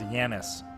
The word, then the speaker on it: Janis: Janis Tomlin! Yeah. Pronounce Yanis. Okay, yes.